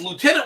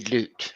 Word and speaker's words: lieutenant: I do agree with you with the pronunciation of it based on its spelling, but my point being, you are talking the British military, therefore it is lieutenant.